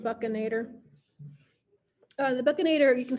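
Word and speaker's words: buccinator: even though it looks like it should be pronounced bustinator um it's pronounced buccanator uh the buccanator you can see along here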